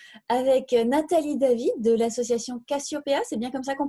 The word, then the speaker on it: Casiopeea: Bonjour, on est aujourd'hui sur Radio Cyclo, la radio 100% vélo, avec Nathalie David de l'association Cassiopéa, c'est bien comme ça qu'on prononce?